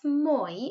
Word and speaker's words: moi: would wear and this moy it's almost a bit like there's a w before it listen carefully and then